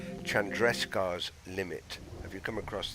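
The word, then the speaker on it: Chandrasekhar: across the the some an astronomical term called Chandresta's limit? Sorry, I'll pronounce it correctly. Chandrescar's limit.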